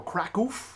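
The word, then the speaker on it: Kraków: for you live from Krakow Poland or crackle as it is cool colloquially pronounced and I'll give you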